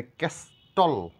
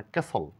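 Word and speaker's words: castle: টি থাকে তাহলে সেই ঠি এর কোন আমরা উচ্চারণ করব না এখানে ক্যাস্টল বলা যাবে না ক্যাসল এখানে ঠি এর কোন সাউন্ড নেই এখানে হুইস্টল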